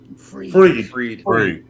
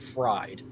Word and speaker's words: Fried: Now that I got his last name correct, I don't have to say it wrong tomorrow night, but say freed instead of fried.